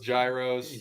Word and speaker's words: gyros: i made who knows how to say it heroes giros gyros there you go yeah so i had you